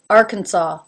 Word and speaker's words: Arkansas: our cancun is the middle syllable arkansas arkansas it has very little emphasis and almost novell whatsoever the it's more just like a little quick sound before you get into the next syllable arkansas california this state often